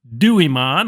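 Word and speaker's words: Duimon: We want to install the Dooimmon. I think that's how you say it. It's spelled D UI M O N.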